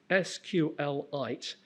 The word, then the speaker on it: SQLite: Um now, the author says he pronounces this SQLite, but he also says he doesn't care how anyone say it. So, I tend to say SQLite because that's easier.